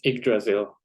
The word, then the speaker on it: Yggdrasil: How do you pronounce this? It's Yggdrasil decision forest.